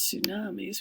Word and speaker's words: tsunamis: he talks about hurricane so here's tsunamis we don't pronounce that T and then here's hurricanes